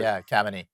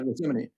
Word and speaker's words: Khamenei: remember his name, but I got to always mispronounce it, the son of the original supreme leader. Khamenei. Yeah. Yeah, Khamenei.